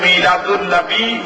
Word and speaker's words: মিলাদুন্নবী: শব্দের অর্থ জীবন বৃত্তান্ত এই এই দুইটা শব্দের সাথে যদি আনবি শব্দটা যোগ হয় তখন উচ্চারণ হবে মিলাদুন্নবী সিরাতুন্নবী তখন অর্থ দাঁড়াবে মিলাদুন্নবী